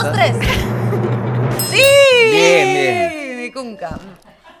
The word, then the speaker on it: Vinicunca: Vinicunca. Vinicunca se pronuncia.